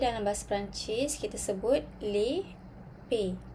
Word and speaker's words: les pays: Okay, country dalam bahasa Perancis kita sebut les pays. Okey, kena ingat S adalah silent letter. Kita tak bunyikan huruf S tu.